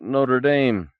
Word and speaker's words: Notre Dame: that bell ringer at Notre Dame Bobo said pronouncing it like the university in Indiana do you know we